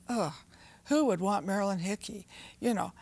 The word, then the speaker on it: Hickey: who would want Marilyn Hickey you know how do you spell her last name it rhymes with sticky you see folks you